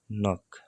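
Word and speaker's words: 넋: नक, नक भनेको चाहिँ आत्मा, नक, नक भनेको चाहिँ आत्मा। यसमा नक्स हुँदैन, नक मात्रै हुन्छ, पछाडिको स चाहिँ उच्चारण हुँदैन, साइलेन्ट बस्छ।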